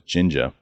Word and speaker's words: ginja: In Portugal, in Lisbon, specifically, they have this drink called ginja, which is spelled like gin, like the gin you drink, G-I-N, and then ja, like ninja, but it's ginja.